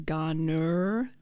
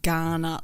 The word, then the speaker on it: Garner: of our australian accent it is garner not ghana like the african country we just did not